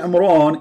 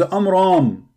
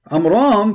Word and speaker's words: Amram: It is not Amran, it is Amram. Amram, first, is not the father of Mary.